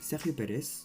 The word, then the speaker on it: Sergio Pérez: Prononcé en espagnol Sergio Pérez, il est le fils d'Antonio Pérez Garibay et Marilu Pérez.